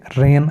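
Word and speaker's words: reign: जी silent हो गया इस तरीके से रेन हुकूमत करना आर ई आई जी एन तो जी से पहले आया तो साइलेंट हो गया सातवां प्रिंसिपल है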